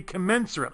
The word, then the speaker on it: commensurate: No, that should be commensurate. I got to change that. Commensurate with the amount of the dividend. I knew I didn't say it right. I did say it right the last time, but I didn't say it right this time. I have to change that. Commensurate, not commiserate, is when you sit